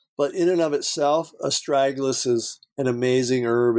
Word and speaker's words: astragalus: How about, and I'm sure I'm going to pronounce this wrong, but I've seen it before. Is it astragalus?